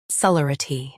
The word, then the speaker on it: celerity: Today we will learn how to pronounce the word shown on the screen, celerity. Both US and UK have the same pronunciation of this word. Stress le. Keep r soft and quick.